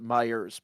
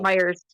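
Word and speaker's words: Meijer: It says Meyer on the front, but they pronounce it Myers plural. Myers.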